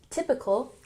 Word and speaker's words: typical: So, could you please describe, emphasis on the second syllable, describe a typical, emphasize the first syllable, typical day in your life?